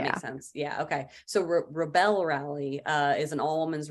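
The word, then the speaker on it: Rebelle: I've heard it pronounced rebel. I just always called it rebel. Is that what it is technically? They say rebel, like belle of the ball or belle of the south.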